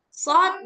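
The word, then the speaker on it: ص: Kalau shad ini dia sama dengan sin, hanya saja shad dia lebih tebal.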